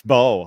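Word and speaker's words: Mbow: Marcus Bo of Purdue and uh it's the M and his name is silent.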